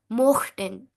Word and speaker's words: mochten: If it would have been umlaut, then it would have been möchten. O umlaut, io, möchten. Here, no umlaut, so mochten.